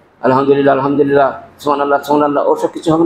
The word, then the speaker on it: আলহামদুলিল্লাহ: তুমি আলহামদুলিল্লাহ আলহামদুলিল্লাহ আলহামদুলিল্লাহ এইভাবে কিন্তু উচ্চারণ করতে হবে আলহামদুলিল্লাহ আলহামদুলিল্লাহ সুবহানাল্লাহ সুবহানাল্লাহ কিছু